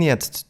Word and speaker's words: jetzt: Some other words where the T at the end disappears when they're pronounced fast are jetzt, bist, and ist. Ich bin jetzt zu Hause sounds more like Ich bin jetzt zu Hause.